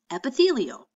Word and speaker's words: epithelial: you think epithelial tissue does can you even pronounce that word try it as I say it again epi' fee yo epithelial what a big word for tissue that covers